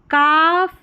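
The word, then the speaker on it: calf: देखिए हाफ काफ बिहाफ और हाफ वे। हाफ वे। सभी में एल साइलेंट है और ए एलएफ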